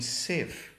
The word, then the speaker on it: sieve: So you hear with grieve, the long E vowel with the short I in sieve.